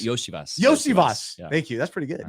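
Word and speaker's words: Iosivas: I can't even say his name Andre Los losas yosias yosias thank you that's pretty good you got it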